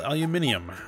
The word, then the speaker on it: aluminium: is bring up the aluminum. Though, in this game it is spelled aluminium, as it, which is the more European pronunciation of that metal, but I'll stick with aluminum.